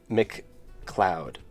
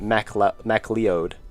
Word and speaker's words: McCloud: I always said it I always said it Ma M leod I just never read